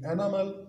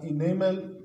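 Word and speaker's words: enamel: उसका नाम है जी एनामल या इनेमल, कोई भी आप प्रोनाउंस कर सकते हैं।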